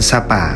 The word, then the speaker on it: Sa Pả: nghĩa là bãi cát người Pháp viết tên là chapa vì âm S phát âm cứng phát âm gần gần như chữ trờ trong tiếng Pháp và s trong tiếng Việt chuẩn Dấu tích này còn